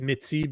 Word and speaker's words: Métis: Métis would be. That's why I say it Métis, because that's how it's said in French.